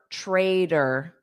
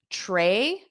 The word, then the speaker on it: trader: We have that t in the middle that will become a soft d. And that o r is pronounced as. So you can think of it just as the R sound, but in spelling it would be the schwa, the upside down e, and then r.